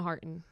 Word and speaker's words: Harton: Shana Harton. Okay, so little you don't bit. say it like the Harton is It's like Martin with an H.